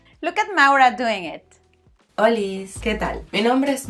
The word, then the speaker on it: Holis: Recuerda que la H es muda. Se dice Oli. Olis.